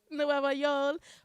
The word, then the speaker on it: Nueva Yol: Nueva Yol. Nueva Yol, which means New York. But that's how Puerto Ricans say it. For some reason, when they say York, they Yo.